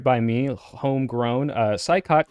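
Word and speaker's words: Saikat: And finally, for California's 11th district, that's right by me, homegrown, Saikot Chakrabarti, or Shoykot, excuse me. You told me how to say it. Yeah, no, you got it.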